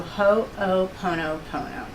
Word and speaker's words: Ho'oponopono: So you say it ho, and then o, pono, pono. So Ho'oponopono. So that's how you say it.